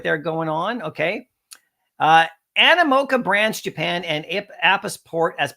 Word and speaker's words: Animoca: I'm calling it Amica, but it's Animoca, right?